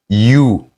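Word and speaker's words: ю: Ici, on a you. You. You. You. Comme en anglais, how are you?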